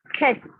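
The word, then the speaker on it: ח: Actually, it is not K sound in Hindi or in Marathi letters of the alphabet, but it is a very different sound. So, as if you are clearing out your throat, that time the sound comes, that is a Ket sound. For example, now just the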